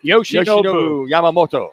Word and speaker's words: Yoshinobu Yamamoto: Yoshinobu Yamamoto.